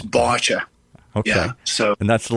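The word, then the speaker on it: Báite: I'm going to see if I can pronounce in Irish. Is it botcha?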